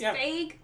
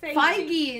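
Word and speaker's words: Feig: fig movies make you is that how you say his name I think it's fig yeah it's F I thought it was fake I've been saying it wrong in my head for like a year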